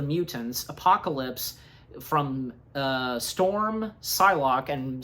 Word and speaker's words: Psylocke: no doubt about it the p is silent so so yeah so again one by one recruiting the mutants apocalypse from uh storm psylocke and psylocke being played by Olivia